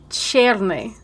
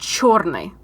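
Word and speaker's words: чёрный: So, she calls Yasuke Cherny. I don't know if you could hear my mouth struggling to say that word. It's pronounced chorny.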